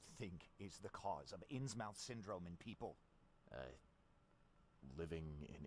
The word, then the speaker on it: Innsmouth: It's actually pronounced Innsmouth.